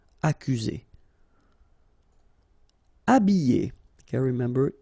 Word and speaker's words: habiller: Habiller. Okay, remember E, double L, and then a vowel, Y. Habiller. H is not pronounced. Habiller.